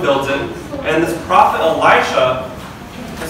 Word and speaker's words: Elisha: Basically, there's this woman who lives with her husband in this town, and this prophet Elisha, you have to pronounce it Elisha, S-H-A, Elisha, he comes to the town very often.